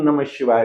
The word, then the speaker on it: नमः शिवाय: लेकिन ओम नमः शिवाय का जो रियल उच्चारण है, ईशान दिशा में ऐसे करना चाहिए जैसे मैं बोल रहा हूं। एक बार नाम शिवा नाम शिवा।